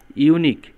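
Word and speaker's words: unique: দেখেন এখানে ইউনিক শব্দটা নিয়ে আসলে সেন্টেন্সটা, মূলত ইউনিক, ইউর উচ্চারণ যখন ইউর মতো হবে তখন তার আগে এন না বসে এ বসবে, তাহলে এটার আনসার হবে this is এ ইউনিক case.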